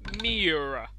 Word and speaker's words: Miura: Right, final car is the Lamborghini Miura.